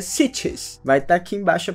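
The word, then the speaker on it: sietch: cidades onde eles vivem se chamam cities quase que sítios mas é cities vai tá aqui embaixo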